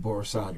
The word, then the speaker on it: Borisade: You pronounce it Akinyemi? A-K-I-N-Y-E-M-I. A-K-I-N-Y-E-M-I. M-I. Okay. And Akinyemi? Akinyemi. Akinyemi. And Borisade, right?